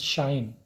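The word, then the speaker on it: sinh: It's written as cosh, it's pronounced as shine of x, where this cosh of x is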